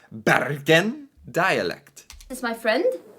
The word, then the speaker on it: Bergen: a video about the barin dialect okay oh Beren Excuse excuse me I wasn't saying it right Beren dialect this is my